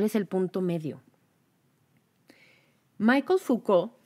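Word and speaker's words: Foucault: el punto medio Michael fouca siempre me da nervios pronunciar este apellido porque se escribe focualt y el francés pues no se los manejó Michael fouca que fue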